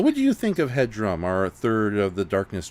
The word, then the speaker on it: Hudram: His first question is, what do you think of Hudram?